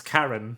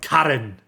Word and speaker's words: Karen: over pronounce her name it's Karen not Karen Karen is not a Japanese name you're kidding me even